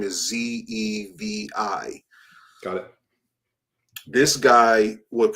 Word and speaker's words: Zevi: Is that Zavey? I mean, Sabbatai, and the last name is Zevi.